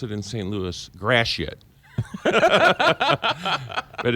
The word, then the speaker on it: Gratiot: As we pronounce it in St. Louis, Gratiot.